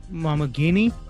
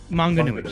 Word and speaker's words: Maunganui: is in New Zealand, he played in Mount Maunganui, is I think how you pronounce Mount that? Maunganui. Maunganui, sorry, Mount Maunganui.